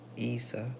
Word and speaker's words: Isa: also a mispronounced also you mispronounced my name it'sa said like Isa like Isa like Isa at West